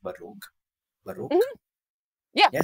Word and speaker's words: Baroque: I would say I listen to this genre of music a lot, which is, I think it's pronounced Baroque. Baroque? Mm-hmm. Yeah, yes. Baroque.